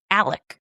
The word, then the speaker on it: Alex: And the man at the center of this case, his name is Alex, but he it's spelled a l e x. And he pronounces it Alec.